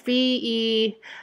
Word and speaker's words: Veikk: I use Veik. I think that's how you say it. It's Veikk. Wait, no. Yeah, Veikk. That's how it's spelled.